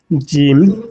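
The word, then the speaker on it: ج: জিম, জিম, জিম। জিমটাকে আরেকটু টেনে করতে হবে।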